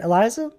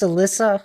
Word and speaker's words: Alyssa: Uh, did I say your name right, Eliza? Doing well there. What were you up to in your stream? I'm pronounced Alyssa.